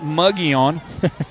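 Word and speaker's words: Mogollon: From all the teams that we cover, and that includes, as I would pronounce it, Muggion, the Muggion Mustangs. That is correct.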